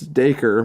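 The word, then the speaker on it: Dacre: dude is freaking Australian I was trying to figure out how to pronounce his first name it's it's de coeur but man I I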